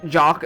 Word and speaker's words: Jax: get to meet Jax which I know for the record is pronounced jock but between jock and jocks and jock and jocks and jocks and jocks somebody's bound to get confused.